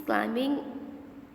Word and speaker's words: climbing: He's climbing the mountain. Now B in climbing is silent.